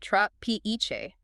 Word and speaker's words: trapiche: Pronounced tra-pe-che.